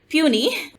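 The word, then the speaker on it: puisne: The word puny is the phonetic spelling of puny, which means the spelling of how the word P-U-I-S-N-E is pronounced and has been adapted in English as such.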